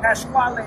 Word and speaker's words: Pasquale: I've been saying Pasquale. Pasquale. And what they call him Pasquale. Pasquale. Pasquale is the right name.